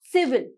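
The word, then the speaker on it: civil: होता right pronunciation इस जो पहले वाला आई है उसको प्रोनाउंस किया जाएगा लास्ट वाले को नहीं किया जाएगा डी राइट प्रनंसीएशन इस सिविल सिविल वॉल ठीक है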